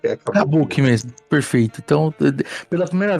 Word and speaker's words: Kabuki: Qual que é a pronúncia certa que eu posso usar? Pode falar Kabuki. Kabuki mesmo, perfeito.